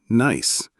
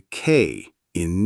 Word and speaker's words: knee: English has a lot of letters that don't say anything like the K in knee or the B in debt. You say ni not ki and debt not debted.